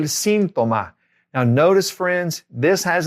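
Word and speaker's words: síntoma: Accent on the I, el sintoma.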